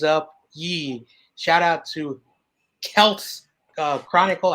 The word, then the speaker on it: Kelt's: Shout out to Kelt's Chronicle. I hope I said it like Melts, but I put with the K.